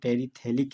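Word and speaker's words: terephthalic: Benzene ring के 1 और 4 position पर कार्बोक्सिलिक एसिड लगा है, तो कॉमन नेम हो गया टेरिथेलिक एसिड, जहाँ पर पीएच साइलेंट है।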